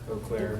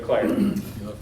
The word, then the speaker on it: Eau Claire: The city of, do we have any Wisconsin people that can pronounce that? Eau Claire. I don't know. It's missing Okay, the E. Eau Claire.